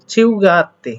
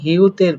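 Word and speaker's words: 휴: তো আমি বলে দিয়েছিলাম কি হিউতের পরে, অর্থাৎ হিউতের এই নিচে যদি ইউ থাকে, কি থাকে ইউ, অন্য কিছু না, ইউ থাকলে এটার উচ্চারণ আসলে সিম্পলি হওয়ার কথা হিউ, কিন্তু এটা না হয়ে হবে হচ্ছে সিউ, মনে রাখবেন, এটা না হয়ে হবে হচ্ছে সিউ।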